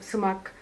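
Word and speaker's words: Sumak: And before she joined this center, she worked on her PhD thesis on sumac.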